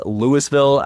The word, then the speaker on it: Louisville: It is Lewisville as opposed to its counterpart Louisville and Kentucky.